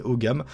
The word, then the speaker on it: Ogham: si ça vous intéresse vous tapez haut gamme ça s'écrit Ogham et vous allez pouvoir